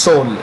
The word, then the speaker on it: Seoul: in canada five seoul which as you know is the capital of south korea south korea he is silent so it's pronounced soul it's pronounced so top